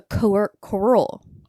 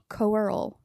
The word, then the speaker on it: Coeurl: Yeah, but it is a fantasy creature called the Coeurl. Coeurl. C-O-E-U-R-L? Coeurl. Coeurl. Yes. It's French Canadian, so you know. Yeah, that makes you sense. probably gotta yes. erase most of those letters in there.